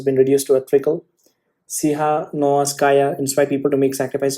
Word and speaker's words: Tsikhanouskaya: I want to pronounce it properly. Tsikhanouskaya.